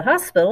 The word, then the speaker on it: hospital: to go to the hospital or you're going to the hospital it's el hospital okay it's a cognate same thing in spanish as in english except you don't say the h it's o gotcha oh first hospital